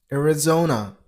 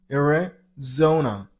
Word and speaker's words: Arizona: Number three. Arizona. You got to stress on the third syllable. I mean on zosium. Arizona. Arizona.